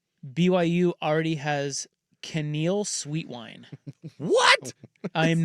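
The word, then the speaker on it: Kaneal: BYU already has Canal Sweet Wine. What? I am not kidding. Oh, hell yeah. Happiness. That's his name. Canal.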